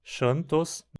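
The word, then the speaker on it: xanthos: E xantos chantos no latim científico com pronúncia em português, que significaria amarelo, né?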